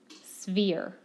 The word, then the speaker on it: sphere: like that like this sphere if you need to say severe that's a lot closer than spear a sphere is a